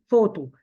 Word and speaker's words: photo: Here is photo. Here when we say photo, BH is pronounced as F. Okay, as we know.